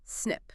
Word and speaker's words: SNP: Often we're talking about a single nucleotide polymorphism or SNP pronounced snip.